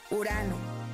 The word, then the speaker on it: Urano: called urano can you say it with me urano it's a very cold Planet way out here